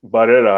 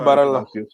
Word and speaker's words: Barella: And then those two, Locatelli and is it Barrera? I don't know how you pronounce that guy's name. Yeah, Nicolo Barella.